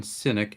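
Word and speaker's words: Sinnock: the j s down here is for john cynic s-i-n-n-o-c-k who was the engraver of this coin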